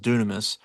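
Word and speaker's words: δύναμις: And Jesus, the word power that that is written there, the word power means uh it's spelled dynamis, but it's pronounced dunamis.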